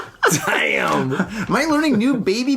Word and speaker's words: Daim: But it's spelled, the name of the candy is DAIM. So I'm sorry in Swedish it's like damn or something like that, right?